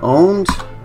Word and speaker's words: Pwned: So the website that I'm going to take you is Have I Been Owned? And here we are. And it is spelled with a P, but it is pronounced owned.